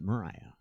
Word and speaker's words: Maria: okay we're moving on they called a wind maria only they pronounce it Mariah now wait out here